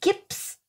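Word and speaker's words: Gipson: Gibson. So it's hard to say. It sounds like Gibson, no matter how you say it.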